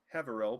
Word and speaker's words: Haverell: So you are going to gain, and Father Havari is number 2. So that is 2 influence with Father Havari, which unlocks first thing. Father Haverell, pardon me, I've been mispronouncing the name the whole time, agrees Jula will provide